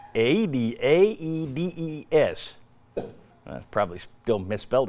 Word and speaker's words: Aedes: It's Aedes, A-E-D-E-S.